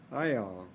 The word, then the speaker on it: Iyall: oh it's i-y-a-l-l um although when he was alive they had a different pronunciation it was iowa but we um my family members they changed the pronunciation to help the people who spoke english okay thank you